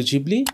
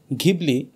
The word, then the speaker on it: Ghibli: Right ডিডট এখন আসি এটা কি স্টুডিও জিবলি না স্টুডিও গিবলি যদিও এটি ইতালীয় ভাষায় বা ইংরেজি ভাষাতে উচ্চারণ করা হয় গিবলি কিন্তু শব্দটি যখন জাপানিজ ভাষায় লেখা হয় তখন সেটির উচ্চারণ হয়ে দাঁড়ায় জিবুরি এমনকি হাও মিয়াজাকিও এটিকে জিবলি ডাকতে পছন্দ করেন।